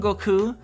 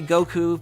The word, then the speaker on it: Goku: it's more like the there's a second u like it's a lengthened vowel at the end so like yeah there's actually like the emphasis on the end there for if you're